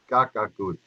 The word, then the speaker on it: kakakuch: the migma language uh crow is kakakuch and uh if you listen to it phonetically so it sounds like the bird the crow um when people